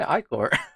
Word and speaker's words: Ichor: Pronounce Icor. Icor. Oh, that's correct. Okay, Icor.